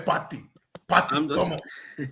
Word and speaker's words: Partey: Say Party.